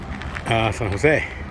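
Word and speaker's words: San José: San Jose, accent on the E.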